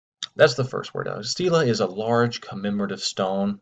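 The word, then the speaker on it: stele: called a steel ax I've heard this word pronounced a few different ways steel Estella steel ii all by people who seem to know what they were talking about I'm just going to stick with the word Stila those sake of consistency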